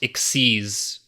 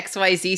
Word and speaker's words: XYZ: I remember there's also a thing that's like it's XYZ summoning, but it's pronounced Xyz.